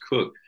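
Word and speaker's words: Coke: and and students spelled c ke but it's pronounced cook uh in the in the 17th century and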